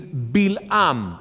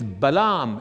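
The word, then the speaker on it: בלעם: The name of this man in Hebrew is Bilam. In Spanish, it's Balaam, and in English, it's Balaam, right?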